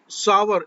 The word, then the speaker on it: sour: ऑन सावर, इसको SOUR को बहुत से लोग शोर पढ़ते हैं। SOUR, शोर का मतलब होता है शोर, इसको इसका जो सही प्रोनाउंसिएशन है वो है सावर, SOUR।